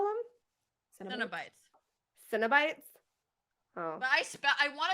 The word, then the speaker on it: Cenobites: Cenobites. Cenobites? Oh. But I want to spell it with a Y. I say Cenobites because Kino.